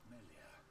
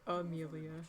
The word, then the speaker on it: Melia: I even had someone call her Amelia. Yeah. Like, if they saw it written down, that'd be one thing. But I literally say her name is Melia, and they're like, "Oh, Melia."